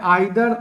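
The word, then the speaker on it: either: Next फिर आ गया आइदर ही, क्योंकि दो कुछ कॉमन टर्म है, बहुत ही कॉमन टर्म है आइदर और, या इसको उच्चारण में ईदर भी बोला जाता है।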